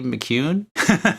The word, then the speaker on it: McCune: would be McCune? Yep, that is exactly how you pronounce that.